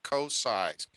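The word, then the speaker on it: Koci: So the Lorna's for those of you who don't know how to pronounce it, it's Lorna Kocai, K-O-C-I.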